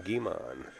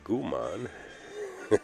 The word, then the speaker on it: Guimond: Guimond, I believe it's pronounced Kevin Guimond. I don't want to say Gumon.